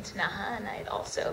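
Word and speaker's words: Ktunaxa: know that I had obviously read the name tanaha and I'd also like Beverly McLaughlin said kutanaxa and um but I made sure when I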